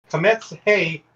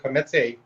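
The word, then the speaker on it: Kamatz He: So this Kemetz Hey, and that's how you say it in that order, Kemetz Hey, is your historically long vowel, or your combined long vowel.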